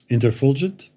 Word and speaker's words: Interfulgent: the way can you can you maybe correct my pronunciation on the on the last album interfulgent oh i got it right okay yeah you did so for uh interfulgent